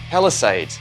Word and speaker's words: Palisades: And what I thought would be very cool is I haven't used the Palisades, that's how you pronounce it correctly, in a long while.